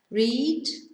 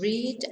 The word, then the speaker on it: read: So the read is the same spelling as the present tense, the infinitive, but the infinitive is read, pronounced read, and the past tense read.